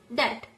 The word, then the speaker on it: debt: It is not about debit, it's debt.